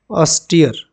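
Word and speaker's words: austere: इसका प्रोनाउंसिएशन क्या होगा? ऑस्टियर।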